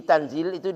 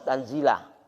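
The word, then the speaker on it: تَنْزِيلَ: Fa'in quri'a bin nasbi, jadi tanzil itu dibacanya nasab, tanzilah, bukan tanzili, bukan tanzilu, ya kan?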